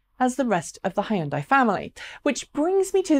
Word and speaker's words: Hyundai: Hyundai Kona electric or Hyundai or high-end buy however you say it in your own market because there are different regional pronunciations has become another entry